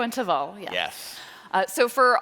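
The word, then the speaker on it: Teval: at uh shik shika and taval am I pronouncing that shiko and taval yes yes uh so for all of the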